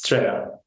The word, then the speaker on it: Citrea: Can you tell me how you pronounce this? It's Citrea.